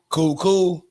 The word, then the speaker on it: Kuol: I may be mispronouncing his name. It's Kuol. So I call it cool.